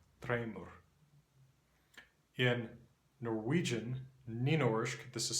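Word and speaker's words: dreymur: In Faroese, it is spelled D-R-E-Y-M-U-R, and it is pronounced Treimur, Treimur.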